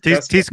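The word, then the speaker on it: Teisco: Tisco.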